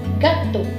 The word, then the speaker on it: gâteau: And EAU, in combination of these three letters, it makes a sound that is O. So, gâteau.